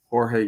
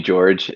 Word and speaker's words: Jorge: Most people call me George, and it's Jorge.